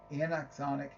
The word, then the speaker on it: anaxonic: uh Anna and axonic gotta say it right anaxonic neurons these as the name suggests are neurons